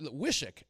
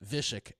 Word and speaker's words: Wysocki: it like it looked Wysocki, and so I ran in. Yes. I ran into one of the locals, and he pulled me aside. He goes, "Hey," he said, "it's actually like a V, Wysocki."